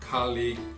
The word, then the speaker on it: colleague: um padrão, que são palavras que terminam com G, U, E. E nesse caso, novamente, as vogais U, E não são pronunciadas. Então, nesse caso, só pronuncia o G, aquele G seco, sem nenhuma vogal. Cuidado para não colocar vogais depois dessas palavras. Vou dar alguns exemplos que são colleague, play, fatigue, vague, league.